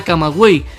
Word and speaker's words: Camagüey: Vemos ahora el mismo sonido, buey, y como te fijas, esta U tiene una diéresis que nos obliga a pronunciar esta vocal. La vemos en la palabra camagüey, que se puede dividir así, ca-ma-güey.